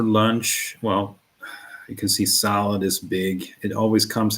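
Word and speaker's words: sallad: So salad, salad is how we pronounce it. Rather similar to the English salad, but uh shorter vowel in the front.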